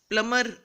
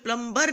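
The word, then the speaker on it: plumber: प्लमर, इसमें प्लम्बर नहीं, B silent है, प्लमर, रेंच और वॉल्व।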